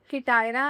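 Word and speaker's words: hetaira: एच ई टी ए आई आर ए किटायरा। I think this is हाउ we pronounce it.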